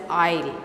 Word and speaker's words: isle: a corner of the isle it should be pronounced as isle in a corner of an isle isle is